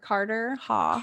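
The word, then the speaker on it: Carterhaugh: Carter Haugh, but it's spelled Haugh. Yes. And Carter Haugh? Like yes. Cottar? Carter. Carter Haugh.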